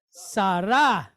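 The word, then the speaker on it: שָׂרָה: Sarah. Right? Sarah, Abraham's wife. All right. So when we pronounce the A, it's like the sound that we get in the word aqua.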